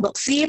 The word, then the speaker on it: Beksi: Karena Bang Rehan sendiri bilang beksi, tapi Bang Ajis bolak-balik sebutnya beksi. Nah, enggak apa-apa, itu adalah kalau di di tempat aslinya bahkan beksih ya.